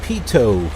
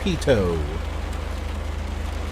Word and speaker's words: pitot: let's turn on our pitot heat we learned what how to pronounce this it's not pitot it's not fight it it's pitot like Pikachu pitot looks beautiful okay